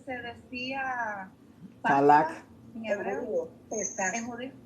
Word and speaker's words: Pesaj: Pesaj. ¿En judío? P-E-S-A-J, Pesaj. La J se pronuncia como arrastrada.